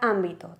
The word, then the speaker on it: ámbito: Otro ejemplo que podemos poner, la palabra ámbito. Tenemos 3 sílabas y como tenemos el golpe de voz en am, porque hacemos ámbito, ni siquiera pronunciamos ámbito o ámbito, ¿vale?